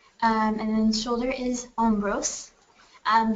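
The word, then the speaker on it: hombros: and then shoulder is omose um the H is silent um and then next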